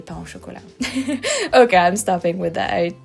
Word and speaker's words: pain au chocolat: And please, from now on, try to say pain au chocolat.